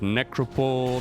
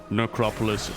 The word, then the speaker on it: necropolis: it necropolis is it necropole no no no no it's like metropolis only necro lords it's like oh okay necropolis it is it looks